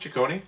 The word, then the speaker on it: Ciccone: in Rio is it it was it pronounced ciccone yeah like Giorgione but he wrote in